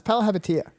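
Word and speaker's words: Palihapitiya: All right, well, you pronounce his last name. No, it's Palahapitiya.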